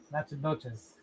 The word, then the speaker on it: Natchitoches: Nat- Natchitoches. That's how it's pronounced, but it's spelled n a c t c h t a d o g easy. Natchitoches?